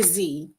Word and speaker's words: Z: You find, I'm going to say Z, because I know I've been saying this name wrong. I've been saying Zaid, but we're going to say Z.